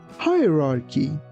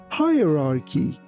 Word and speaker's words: hierarchy: Hierarchy. Noun. A hierarchy is a system of things or people ranked one above the other. In the spelling of this word, be careful that CH doesn't sound like ch.